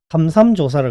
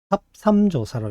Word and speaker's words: 삽삼조사: 선생님들이 이걸 모르고 삼삼조사라 그러는데 삽삼조사라고 읽어야 돼.